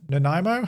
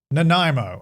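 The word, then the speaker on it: Nanaimo: Nimo. How do you say it? Let me look it up so I can get it right. Naimo.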